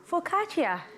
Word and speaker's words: focaccia: It's called focaccia.